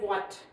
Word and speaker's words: what: For example, यहाँ पे हम पढ़ रहे हैं what, तो यहाँ पे हम H को नहीं पढ़ रहे. H is silent, only W is voiced.